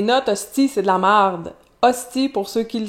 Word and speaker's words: marde: Notez qu'il prononce marde et non merde. Autre trait du français québécois, le E devant un R a tendance à se changer en A sous le coup de l'émotion en français très populaire.